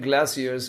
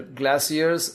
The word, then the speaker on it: glaciers: But the white bear is also sad because outside the crashing glaciers grow. This word can be pronounced as either glaciers or glaciers.